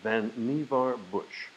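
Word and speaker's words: Vannevar Bush: middle- class homes jump 500 years to 1945 vanar Bush that's his his name is pronounced vanar Bush President Roosevelt science adviser writes an article predicting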